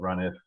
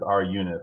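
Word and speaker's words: runif: I actually had to, I had forgotten what run if or I guess it's R unit is the way it's pronounced.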